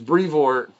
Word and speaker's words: Brevoort: And I'm like, yeah, no, but I can finally pronounce Tom's. It's Brevoort.